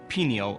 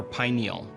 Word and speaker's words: pineal: Let's start with the word pineal or pineal. Both pronunciations are correct.